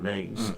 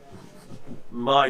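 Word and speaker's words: Mie: Me peak is it or my my Well, I say me, you say my name. Okay. Well, I must admit I scattering is actually probably the the correct pronunciation. M I E, isn't it? It's MI. Yeah, it's named after the French. Yeah.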